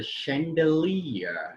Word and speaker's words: chandelier: word seventh word is a chandelier chandelier yet again ch means a show so when i study